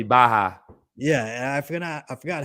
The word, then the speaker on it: Barra: side they're like yo if it's a double r you gotta roll them bad boys no if it's Double R means the H or this is silent or something it's cool I'm I'm able to take that that critique I appreciate them even caring enough they feel like I think it was the first show you did was it Gracie Barra yeah it was supposed to be Baja yeah I forgot I